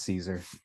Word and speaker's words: Caesar: Cesar? Caesar? How do you pronounce it? It's Caesar. Yeah, okay.